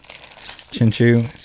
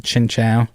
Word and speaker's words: Chinchou: Chinchu. Yeah, the Chinchu, Chinchou, depending on how you want to pronounce it.